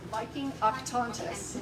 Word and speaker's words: Viking Octantis: Can you pronounce the name of the ship again? Viking Octantis.